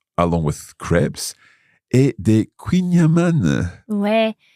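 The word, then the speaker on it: kouign-amann: Ouais, il y a un petit débat sur la prononciation de Queenyaman. Oui, c'est un mot breton. Oui, exactement. Et je pense qu'il y a quelques Bretons, parfois ils disent peut-être Queenam euh mais je crois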